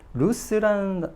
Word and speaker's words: loose: 루즈 하면 안 됩니다. 왜냐면 우리가 그 콩글리시죠. 이게 일상에서 너 일상이 너무 루즈해진 거 아니야? 라는 표현 쓰잖아요. 루즈가 아니고 영어는 루스입니다. S 발음 납니다.